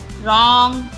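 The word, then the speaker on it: wrong: Guess guess guest guest W silent रॉन्ग रॉन्ग W silent है।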